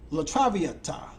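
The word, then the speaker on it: La traviata: Let me pronounce this correctly. It's called Latra Latravieta.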